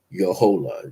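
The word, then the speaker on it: Jojola: name is Yola Jo o j o j o l a I gotta learn pronounce my J's and y's in Spanish are different but anyway your whole that's how it's pronounced j o j o l a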